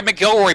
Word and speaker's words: McIlroy: No, it's McIlroy. I could have sworn they said Mac.